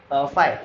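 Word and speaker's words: phi: पी एच आई सी इट is called फाई this called फाई इसका pronunciation आता है एफ वाई ई ये इसका प्रोनाउंसिएशन है बट ये इसकी स्पेलिंग है पी एच आई मतलब फाई होता है क्लियर इसको इस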